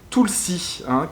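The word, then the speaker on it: tulsi: soir le basilic sacré tout le 6 1 qui s'écrit tout l'a61 mais en sanskrit on ne prononce pas les a on est très peu donc on dit tout le 6 1 et donc c'est le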